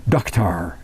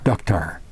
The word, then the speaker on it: dukhtar: But in Persia, that's Iran and over there in the Middle East, Persia, they say Dukhtar, daughter, Dukhtar. But it's spelled D-U-K-H-T-A-R, Dukhtar.